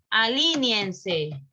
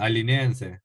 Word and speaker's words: alinéense: Alíñense. Corrijan. Alíñanse. Alíñense. Están haciendo diptongo. No hagan diptongo. Hagan yato. Hay dos sílabas. Alinéense.